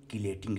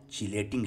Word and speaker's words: chelating: It must be noted that its correct pronunciation is chelating ligand and not chelating ligand.